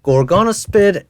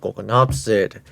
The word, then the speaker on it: Gorgonopsid: Gorgana spid instead of gonopsid. You know, mispronouncing P and S by swapping them together.